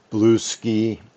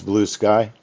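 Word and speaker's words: Bluesky: that allows corn and people are saying blue ski. I think it is blue ski. Who knows how that's pronounced? You have to go listen to a a YouTube video. Blue sky ray. It's blue sky.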